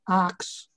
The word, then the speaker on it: ask: family member who uh asks questions the funny thing about it every day yeah the funny thing about this one is that uh arcs was the original pronunciation because in old english the word was accident